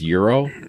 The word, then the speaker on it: gyro: write that gyro chiro so it's euro like the money okay well how do